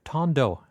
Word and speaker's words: Tando: uh an album by uh Tand Ton Tandu I think he pronounced or Tan Tando actually he says he says it tando which is short for